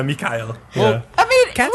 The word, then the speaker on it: Mikhail: McKYLE. Well, I don't have a German accent, so this is the best I can do. It's a Russian name. Mikhail? Yeah, Mikhail.